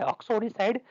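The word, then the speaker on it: uxoricide: इसका correct pronunciation कुछ इस तरह से होता है ऑक्सोरिसाइड, लेकिन आप स्पेलिंग अच्छे से याद रखेंगे, UXORICID, ऑक्सोरिसाइड, यानी killing of your own wife.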